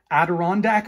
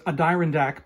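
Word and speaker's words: Adirondack: that we've got the I've always been iffy on how to pronounce this because I'm not from the USA but I think that's the adirondac mountains I think uh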